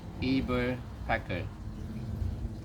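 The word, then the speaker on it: Eberspächer: the uh the brand this is how they pronounce it eber pecker some just call it a robusto heater this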